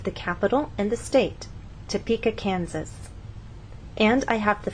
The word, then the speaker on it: Topeka: So you can see that we stress the middle part of the word, Topeka, and here the first part, Kansas.